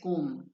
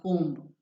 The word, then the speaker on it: comb: again it is um it is just comb and not comb that b remains silent okay in tomb as